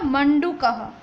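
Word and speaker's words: मण्डूकः: यहाँ पर जो दिखाई दे रहा है वो आधा अण है, मतलब उसको हम पूरा लिखते हैं इस तरीके से अण, लेकिन यहाँ पर आधा है इसलिए उसको प्रोनाउंस किया जाएगा मंडूकः.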